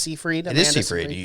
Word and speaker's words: Seyfried: with amanda seyfried and i always say her name wrong i think it's sea freedom that's the first time i think you got it right yeah maybe hey i'm